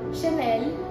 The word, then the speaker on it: Chanel: The correct pronunciations are Dior, Chanel, Louis Vuitton and Hermès.